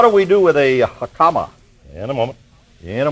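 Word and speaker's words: jicama: regular mushrooms what do we do with a hakama in a moment in a moment how do you spell hakama anyway j i c a m a j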